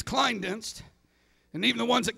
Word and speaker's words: Klinedinst: It's Klinedinst. And even the ones that can say it can't spell it.